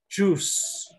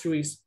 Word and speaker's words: juice: Recuerden que la I es muda acá, entonces juice, no es juice, ¿ok?